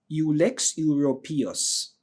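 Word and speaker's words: Ulex europaeus: U L E X and U P A E U S Ux uropus. All right, that's how we normally pronounce it.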